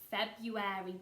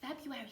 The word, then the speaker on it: February: we are now in February, but February spelt a little bit different to how it sounds. So Monday the 1st, and it's spelt like Feb-ruary.